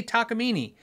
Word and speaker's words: Takamine: And I go, no, you just say Takamine.